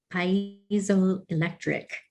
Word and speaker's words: piezoelectric: It's able to transduce the energy quite effectively with its, I always mispronounce this word, piezoelectric.